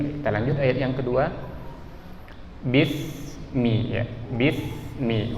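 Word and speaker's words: بسم: Huruf sin itu bukan huruf yang perlu dipantulkan suaranya. Karena kalau kita kurang hati-hati, kita akan bacanya bis, ada bunyi e-nya. Sementara dia tidak boleh ada e, tapi bismi ya.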